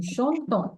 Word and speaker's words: chantons: Nous chantons. Because we are adding ONS, we pronounce the ONS.